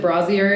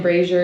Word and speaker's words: brazier: Yeah, apparently you can pronounce it brazier, and that's the French version, and brazier is the American version, and I decided to say both at the same time.